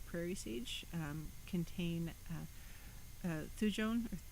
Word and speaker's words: thujone: sage um contain uh thujone thuyon depending on how you pronounce it t-h-u-j-o-n-e thujone and